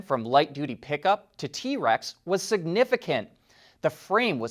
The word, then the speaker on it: TRX: to the ford raptor the trx which they pronounce as t-rex internally and it's a serious off-road machine and we recently got to drive one the conversion from light duty pickup to t-rex was significant the frame